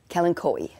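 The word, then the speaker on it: kalanchoe: i have a talon i i'll i'll just spell it k-a-l-a-n-c-h-o-e yes kellen koey right and it was over watered when i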